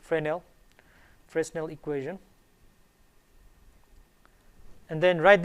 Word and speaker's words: Fresnel: s n e l but it's pronounced frenel fresnel equation and then